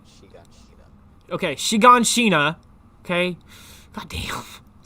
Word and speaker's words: Shiganshina: They pronounce it Shiganshina.